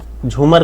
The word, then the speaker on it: झूमर: ठीक है, झुमोर, ठीक है, इसीलिए यहाँ पे आपको झुमोर लिखा हुआ दिखेगा, लेकिन ये झूमर भी नहीं है। ये झूमर जो है, भले हिंदी में आज झूमर को लिखा जाता है, लेकिन इसका एग्जैक्ट जो प्रोनाउंसिएशन है वो झूमर है।